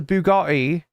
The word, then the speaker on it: Bugatti: It's the Bugatti.